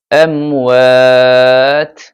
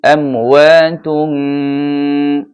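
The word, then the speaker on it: أَمْوَات: ওয়ালা তাকুলু লিমান, গুণা হয়েছে, লিমান ইউকতালু ফি সাবিলিল্লাহি আমওয়াত। থামলে হবে আমওয়াত। আর যদি মিলিয়ে পড়তে চান তাহলে পড়বেন আমওয়াতুম।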